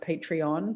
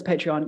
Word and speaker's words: Patreon: I actually don't even, I think it's pronounced Patreon, but I don't know. Yeah. It's Patreon, yeah.